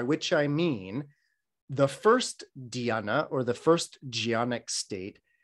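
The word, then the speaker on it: dhyāna: move into what is called a gianna in pali or a diana in sanskrit same word different pronunciation but the idea is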